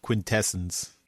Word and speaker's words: Quintessence: Daryl, it's pronounced Quintessence.